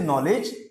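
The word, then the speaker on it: knowledge: होगा बट के से नॉलेज नहीं होगा बात समझ आ रही है के से नॉलेज नहीं होगा क्योंकि के क्या है बेटा साइलेंट है ठीक है ना के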